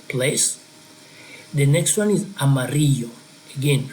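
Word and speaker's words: amarillo: the next one is Amaro again remember the Double L is going to sound like a y in English Amaro that will be the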